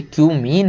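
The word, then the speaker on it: cumene: मत पढ़ लेना भाई, ये क्यूमीन है। बहुत सारे लोग समझ रहे हैं क्या क्या पढ़ लेते हैं, है ना, तो इसको वही पढ़ें जो इसका प्रोनाउंसिएशन है।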